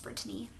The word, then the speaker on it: Brittany: It's like Brittany, but with 3 syllables. It's supposed to be pronounced Brittany.